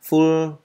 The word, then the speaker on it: full: Và full of, các bạn đọc rõ chữ L cuối cùng ra, full, that is full of, chỗ này mình thiếu chữ of, that is full of my childhood memories.